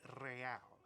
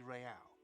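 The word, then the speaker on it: réal: you owe me 130 real he pronounces the r with a mock aristocratic act or inter-issulary real is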